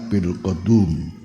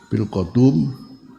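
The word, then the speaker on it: بالقدوم: Nah, kalau bilum kita artikan di desa qadum baguslah masalahnya ada seorang membacanya salah bilqotum qodum di man ora deso kapak alqotum ini bisa jadi maknanya kapak Ya, padahal alqatun di sini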